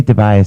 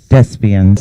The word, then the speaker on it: Despians: Yes, I never pronounce his last name right. I always say Tobias. I don't know why. Despians.